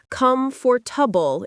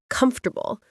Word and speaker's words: comfortable: Or saying come for tubble instead of comfortable.